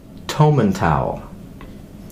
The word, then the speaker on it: Tomintoul: Make it a long O, Tomintoul. not a Okay. short O. Yeah, Oh. and go. It's pronounced Tomintoul. Is it? Yeah, I I'm pretty I sure. thought it was Tomintoul.